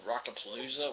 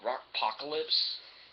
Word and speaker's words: Rockpocalypse: I might have said Rockapalooza, which that's not the name of it. It's a WWE sponsored game. It's called Rockpocalypse. I'm not going to buy this.